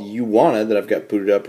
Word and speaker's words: Uwana: at the top that says you wanna uh hence the name of the app you wanna though it's one word and uh spelled with you but you get the